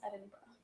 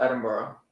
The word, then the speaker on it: Edinburgh: I think it's pronounced Edinburgh. Everyone calls it Edinburgh.